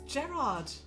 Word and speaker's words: Gerard: Oh, okay, so we're discussing Gerard and Jared, are we? So it's Gerard Way and Jared the Bone Turner. It's Gerard.